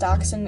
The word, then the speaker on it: Dachshund: It's actually pronounced Dachshund.